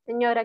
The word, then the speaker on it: signora: Lui lei, signora, aquí escribe, signora, aquí escribe, signora, ¿quién escribe? Recuerden que esta GN se pronuncia como nuestra ñ.